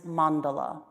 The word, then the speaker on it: mandala: And in Sanskrit, that is mandala, M-A-N-D-A-L-A, with a little dot underneath the N and the D to help you pronounce it.